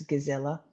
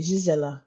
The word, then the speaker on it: Gisela: I know it's Gisela, but I want to say Gisela, like Ghislaine. No, that's good. That's a hard G as well.